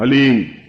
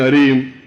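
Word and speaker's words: ह्लीं: वो बोले ओम हलीम बस ये हलीम शब्द बहुत ध्यान से उच्चारण करने देना है। HALEEM, हलीम। कोई बोले हरीम, कोई बोले हीम, तो कुछ फायदा नहीं होगा। हलीम, हलीम, ह आधा है।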